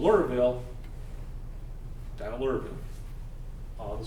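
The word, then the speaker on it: Lura: And he establishes a community called Lurville, down at Lurville, on the Suwannee River.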